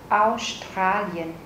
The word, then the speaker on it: Australien: Australien. Trọng âm rơi vào chữ A.